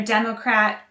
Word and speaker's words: democrat: democracy democrat and democratic again the stress is on the first syllable for democrat and democratic and the stress is